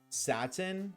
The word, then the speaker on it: satin: Satin? Oh. I proceeded to spend 99. That's it. Satin is a material pronounced as Satan? Nope. Nope, it's pronounced Satan because I said so.